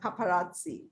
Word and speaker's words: paparazzi: हैं ना Italian word में, जब भी दो जेड इकट्ठे आते हैं तो वो उसका जो स्पेलिंग है, पहला ज त और दूसरा स हो जाता है।